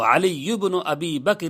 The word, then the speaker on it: علی ابن ابی بکر: بکر ابن عبد الجلیل، اور اگر عربی میں تلفظ کرنا چاہیں تو علی ابن ابی بکر ابن عبد الجلیل، علی ابن ابی بکر